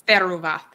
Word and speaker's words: Theruvath: How do you say this? Theruvath. I think it's Theruvath.